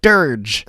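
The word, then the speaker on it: Dirge: KK Dear Dear Gay Durge. KK Durge. See, now I now I know how to say it correctly.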